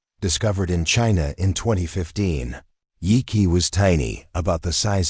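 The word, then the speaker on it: Yi qi: Yi-Qi, pronounced Yi-Qi, meaning strange wing in Mandarin, wasn't just another feathered dinosaur from the Jurassic.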